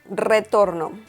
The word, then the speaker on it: retorno: Retorno. We can see the letter R at the beginning of this word, so the pronunciation is retorno.